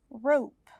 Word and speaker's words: rope: please cut the rope rope can you hear an e no you can't but the letter o is long because we added an e okay so today's lesson